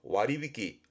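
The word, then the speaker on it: 割引: 나누어서 뺐다라는 의미에서 와리비키, 와리비키. 요것도 그렇죠. 증자 했었죠. 할증이 됩니다. 반대뜻이 되는 거죠. 그래서 얘도 발음을 와리마시, 뜻으로 가요.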